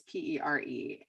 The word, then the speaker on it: Shari Perry: Oh my gosh, Shari Perry. So it's Pere, and her first name is spelled Chari.